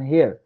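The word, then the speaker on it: heir: আর এই যে বলছে এইচ, অনুচ্চারিত এইচ, সাইলেন্ট এইচ, একটু এখানে যেটা বোঝাচ্ছিলাম, এগুলোর ক্ষেত্রে কি হবে, অ্যান বসে। An honest man, an hour, an হেয়ার, হেয়ার মানে কি গো, এইচ ই আই আর।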